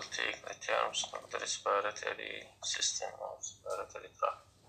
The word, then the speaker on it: respiratory system: Now we will take the terms of the respiratory system or respiratory tract. respiratory system. هنا أنا بقوسين خلي لك حتى الصوت عشان تلفظ كلمة respiratory system.